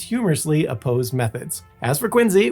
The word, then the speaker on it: Quincy: As for Quinsey, which yes, is pronounced Quinzy, not Quincy, the city is home